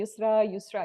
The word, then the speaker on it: Yousra: You said it the French way. Say Yousra. So it's a proper name, and you can call me Yousra. In Arabic it's Yousra. In French it's Yousra. In English it's Yousra, and that's me, anyways.